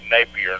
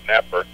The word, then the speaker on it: Napier: But first of all, again, I'd like to say my last name is Napier, not Napper.